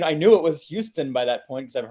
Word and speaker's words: Houston: Side, you have like Houston, or they say Houston. yeah, Houston, which I always thought was weird.